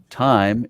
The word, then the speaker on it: Thyme: can follow along time time is spelled t-h-y-m-e time and travel and put underscore